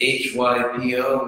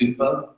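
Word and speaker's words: ὑπό: Sanskrit Upa became the Greek Hypo, which the Greeks pronounce Y like a French or German U with the dots over it, so it's like Upa.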